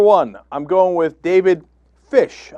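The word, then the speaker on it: Pysh: Number one, I'm going with David Fish. I believe that's how it's pronounced, P-Y-S-H.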